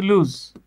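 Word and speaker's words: lose: ভাই এই যে দেখেন এটার উচ্চারণ কিন্তু লুজ এটার পাস্ট ফর্ম হচ্ছে এই দেখেন লুজ লস্ট লস্ট এটা হচ্ছে ভার্ব ভাই হ্যাঁ আর এই যে এল ও এস এস এটা হচ্ছে লস লস এটা লুজ না কিন্তু হ্যাঁ লস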